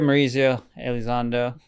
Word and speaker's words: Mauricio Elizondo: Well, so I guess like speaking of mispronouncing stuff like is you pronounce your name uh Mauricio Alzando? Yeah. Well, here Mauricio Alzando.